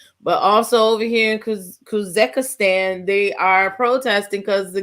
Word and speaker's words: Kazakhstan: Kazakhstan. I didn't say it right. Kazakhstan.